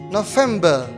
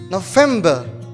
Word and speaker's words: November: next month is november november the stress is in the second syllable november let's say together november